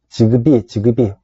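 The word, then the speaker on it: Zigbee: 그 다음에 이제 뭐 직비나 와이기그 같은 것들이 사용되거나 또 개발되고 있는데, 직비는 지그비 또는 직비라고 발음합니다.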